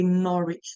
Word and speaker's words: Norwich: r w i c h um The W is silent and that's why we say norch not norch okay so UA is located in